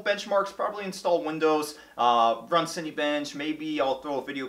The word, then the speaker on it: Cinebench: know it'd be a city bench thing triggers people so I'm sorry about that I meant to say Cinebench but I always say it wrong and I'll probably speed this